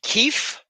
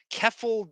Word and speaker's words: Keffe: Keith? Keffe. Okay, Keith. So you're not pronouncing the TH, you're pronouncing F.